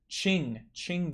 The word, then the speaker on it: Qing: Qing Dynasty, that's how you say it.